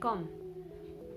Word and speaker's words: comb: For example, in a word like comb, the letter B is silent because it comes right after the letter M.